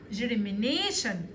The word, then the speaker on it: germination: Germination عملية الإنبات اسمها germination. ما ننساش ان التي والاي والاو بننطقها بصوت حرف الشين germination.